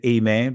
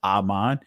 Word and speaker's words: aman: Many of you guys have said amen, but the actual pronunciation is Aman.